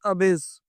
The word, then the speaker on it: abase: Please आपसे request है जो इसका जो उच्चारण है जो प्रोनंसिएशन है उसको ध्यान से कीजिए। इसका होता है अबेस।